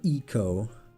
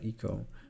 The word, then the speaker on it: Ico: I did not like Ico that much. Or Eco. because in Japanese it's like Iko, like first or one.